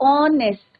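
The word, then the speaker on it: honest: तो ऑनेस्ट pronunciation sound किसका आ रहा है बच्चों?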